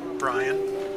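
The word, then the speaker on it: Brion: Brian. Your name is your password? High five! Well, yeah, but it's spelled B-R-I-O-N.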